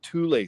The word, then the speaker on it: Thule: were part of the Thule Society, Thule. You could also pronounce it Thule, but I pronounce it Thule.